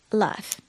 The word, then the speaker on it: laugh: Laugh, which sounds like it has a F in it, is actually spelled L-A-U-G-H. Laugh. It should be laug, but it's not.